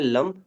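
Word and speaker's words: लं: मूलधार का जो बीज मंत्र है वो है LAM, इंग्लिश में लम। और वैसे हम लम इस तरह से प्रोनाउंस करते हैं।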